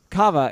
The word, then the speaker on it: Kava: whose name I keep kava-kava rhymes with Java okay there you go can I remember today or now cava and he's like well